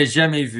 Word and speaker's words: jamais vu: So the one that I'm familiar with, which I'm going to butcher the crap out of the pronunciation, is Jamais Vu? Yeah, Jamais Vu, yeah.